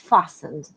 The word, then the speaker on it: fastened: At this time, a little bit of pause, please check to see that your seatbelt is fastened. T is silent in this word, fastened.